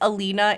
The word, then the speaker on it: Alina: I appreciate even typing it's Alina a li na you don't have to